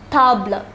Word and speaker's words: table: It is spelled the same as table in English, but it is pronounced table.